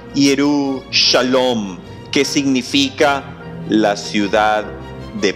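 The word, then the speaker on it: ירושלים: Y este era el nombre antiguo de Jerusalén, que en hebreo antiguo se pronunciaba Yerushalom, que significa la ciudad de paz.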